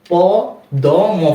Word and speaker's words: পদ্ম: যাব বা উচ্চারণ করব এটা কি হবে পদ্ম হবে প দ ম ফলা পদ্ম এরূপ হবে না এরূপ হবে না কি হবে উচ্চারণটা প দ ম ফলা পদ্ম পদ্ম এখানে